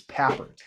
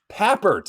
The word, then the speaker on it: Papert: It's Papert. Papert. Okay. Yeah, yeah. So I just kind of think of paper and then Papert.